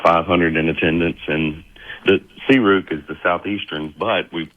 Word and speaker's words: SEARUC: Um, it's pronounced Seuk. Okay. Seuk. See, I was I I was going to say Cu and that would have been totally wrong, but that makes more sense.